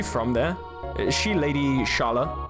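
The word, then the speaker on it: Schala: Is she Lady Shala? Which I'm mispronouncing, but SCH in German is sh, so I'm pronouncing like it.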